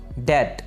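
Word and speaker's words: debt: इसे डेबिट नहीं बोलेंगे, बल्कि डेट, बी साइलेंट है यहाँ पे, डेट, डेट।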